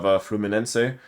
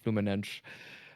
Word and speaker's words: Fluminense: as Fluminense as the Portuguese pronunciation would probably be.